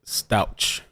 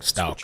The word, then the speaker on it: Stauch: know that whole thing I pronounced it stouch that's incorrect how dare you Stout sounding Stout thank you so yeah